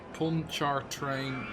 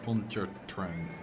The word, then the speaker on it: Pontchartrain: I think Lake Pontchartrain Causeway in New Orleans.